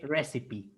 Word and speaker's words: recipe: e okay okay so only carefully pronunciation here we here we say recipe sorry recipe recipe okay